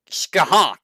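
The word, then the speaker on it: Scáthach: and C it's uh skah Haw I think that's how people say her name is it's like skah haw he should have been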